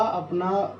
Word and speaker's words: अ: तो इसका जो क्या उच्चारण है, इसका उच्चारण है अ, इसका है अ, सही उच्चारण है इसका अ, आ, इ, ई, उ, ऊ।